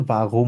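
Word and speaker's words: warum: একদম একদম র এর মত রক্ এর মত উচ্চারণ হয় তো এটাকে আমরা বলি হচ্ছে বাগুম বলি তো ঠিক আছে তো এক্ষেত্রে আমরা বলব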